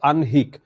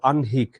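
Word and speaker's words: আহ্নিক: কি বলেছি এটা হচ্ছে আনহিক এটা হচ্ছে উচ্চারণ যখন যে হ এর সঙ্গে ন থাকে যেমন এখানে তো আছে দন্তন্য হ এর সঙ্গে যদি মূর্ধন্য ন থাকে তাহলে হচ্ছে আমরা কি করব উচ্চারণটা এভাবে করব আনহিক বনহী পূর্বানহ অপরাণহ মধ্যানহ এটাই এটাই বুঝিয়েছি হ্যা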